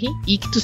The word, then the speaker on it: Ichthus: Ictus se escreve I-C-H-T-H-U-S.